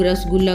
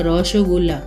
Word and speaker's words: रसगुल्ला: तो इसको कौन बोलेंगे बंगाली लोग रसगुल्ला का रोश गुला ऐसे ही पहाड़ी लोग साहब